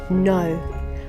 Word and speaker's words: know: year two this week the spelling rule is the MM sound spelt with KN and GN at the beginning of words knock knock on the door and see who's there knock know I know the answer